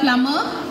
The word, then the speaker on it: plumber: Spell the word plumber. PLUMBER. Yes, that's correct. It has a silent letter B in the word.